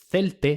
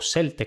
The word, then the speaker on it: Celtae: En Celtae tendríamos la pronunciación celte sin seseo o celte con él.